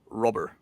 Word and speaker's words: Robert: It's rubber. That's how he says it. So I don't know exactly how. Like it's a combination of Robert and Robert.